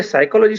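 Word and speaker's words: psychology: ऐसी स्थिति में मुझे साइकोलॉजी शब्द जब पढ़ाना है तो बच्चों को बताना पड़ता है कि पी साइलेंट है।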